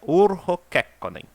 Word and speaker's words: Urho Kekkonen: O jeito certo de pronunciar é Urho Kekkonen.